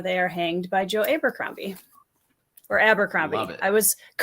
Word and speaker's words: Abercrombie: So I think it's Abercrombie. I apologize. That's how I say it too. I think Daniel Green says it Abercrombie, adds on the third syllable.